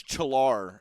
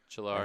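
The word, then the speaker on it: Çağlar: popped one in attacked it's chill are is how you pronounce it I actually went to school with a kid named chill or chill our he was Turkish so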